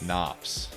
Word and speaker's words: nafs: Nafs.